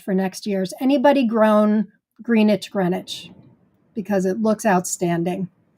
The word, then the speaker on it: Greenwich: they would pronounce this Greenwich with the a short e and taking the w out.